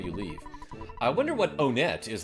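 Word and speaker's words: Onett: By now, Onet, that's how we pronounce it from Onet. But this guy's out of town, so he probably says Onet, is in his evil hands.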